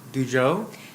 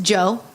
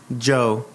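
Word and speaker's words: Djo: Dujo? It's just Joe. I figured. The D is silent. Joe.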